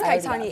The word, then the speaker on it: Kaittany: Lydia, are you I've already asked her how to pronounce it. It's Kaittany, and so it's one of those names you get married and you can't drop it.